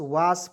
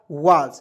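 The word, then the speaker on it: was: पढ़ेंगे वास नहीं पढ़ेंगे बहुत लोग जो है डब्लू ए एस वास पढ़ लेता है वास पढ़ना बिल्कुल गलत है दोस्तों वास पढ़ेंगे देखिए डब्लू ए से लिख लिखेंगे वा एस का उच्चारण यहां भी हम लोग ज का रूप में प्रयोग करेंगे ठीक है हो जाएगा वाज डब्लू ए एस वाज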